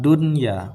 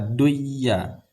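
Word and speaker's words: دنيا: Yang pertama adalah kata dunya. Walaupun di sini ada nun mati bertemu dengan ya, tapi tidak kita idgham bigunahkan. Kita harus membacanya secara izhar atau jelas. Dunya, tidak boleh baca duya.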